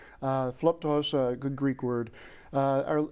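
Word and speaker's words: Philoptochos: you said and one of those is the Philip to host group can you tell us what they do first of all very good pronunciation flup toss a good Greek word or it's mostly a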